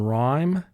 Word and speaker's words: rhyme: sound as in not rh represents the sound ra as in rhyme sc represents the sound